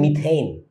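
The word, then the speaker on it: methane: হ্যাঁ, এটার উচ্চারণটা আসলে বাঙালি মতো মিথেন কইও না, উচ্চারণটা অ্যাকচুয়ালি মিথেইন, এইন আছে আর কি, মানে এ কনসোনান্ট ই, এটার উচ্চারণটা কিন্তু এই হয়, এই।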